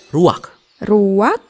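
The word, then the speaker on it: רוח: kehadiran Allah secara pribadi kata dalam bahasa ibraninya adalah ruwak-ruwak tidak benar tenggorokan kita harus benar-benar bersih di akhir pengucapan jadi apa itu hm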